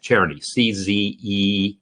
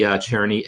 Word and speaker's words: Czerny: I kind of feel like that's how I've pronounced it my whole life. Czerny, C-Z-E-R-N-Y, right?